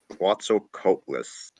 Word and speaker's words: Quetzalcoatlus: Quetzalcoatlus.